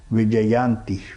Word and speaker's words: Vijayanthi: So this name is Vijayanti, Vijayanti. Can you pronounce?